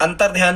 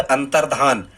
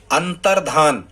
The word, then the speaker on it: अंतर्धान: में नहीं होता है, अंतर ध्यान जैसा कोई शब्द स्टूडेंट्स हिंदी में नहीं होता है। सही जो शब्द है वो है अंतर्धान। क्या है? अंतर्धान, अंतर्धान, धा के ऊपर रा की रेप लगाएं, अंतर्धान।